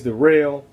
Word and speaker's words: Daryl: Yeah, my name's Darrell. It's spelled like Daryl, but it's pronounced Darrell.